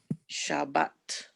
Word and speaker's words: Shabbat: you remember the word Shabbat, you Shabbat. Shabbat, right? Shabbat. So, aw as in paw, no, because that's too aw, that's not ah, aw. That's a more kind of closed sound.